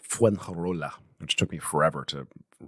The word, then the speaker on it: Fuengirola: in Spain in a little beach town called Fuengirola, which took me forever to figure out how to pronounce. It's fun to say. Say it with me. Fuengirola.